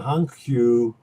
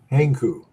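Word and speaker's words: Hankyu: loaned um, to the Hungu team in Japan in 1952. And I'm sorry, Henku is the way you pronounce it.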